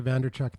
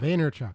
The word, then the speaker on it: Vaynerchuk: it's the Gary uh vaynerchuk yeah Gary Gary vanderchuck theory on vaynerchuck vaynerchuk okay and also uh and for the guy that can't pronounce things it's amazing well I'm the guy